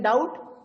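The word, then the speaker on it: doubt: silent letter in द डाउट and raspberry sir बी and raspberry में पी इन the word डाउट there is अ बी इज a silent letter and इन द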